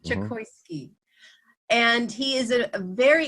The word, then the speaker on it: Chokoisky: On today's episode of Interviews with the Gurus, we have Simon Chokowski. Did I say it right? Chokoisky, like chocolate and whiskey. Chokoisky.